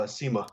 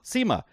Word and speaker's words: Sima: So, Sima. Sima. And so kind of pronounced like Zima, but with an S, right?